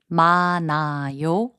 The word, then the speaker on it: 많아요: 많아요, which means many, is pronounced as 많아요.